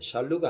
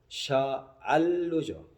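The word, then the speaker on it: שאלו: 샬루, 그 다음에 샬롬, 예루살라임 이렇게 되어 있는데 발음이 약간 틀린 게 샬루가 아니고 샤알루죠. 아 발음이 들어가야 돼요.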